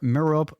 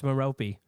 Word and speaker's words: Merope: Hepzibah Smith, Marvola Riddle, Eileen Prince, or Merope Gaunt?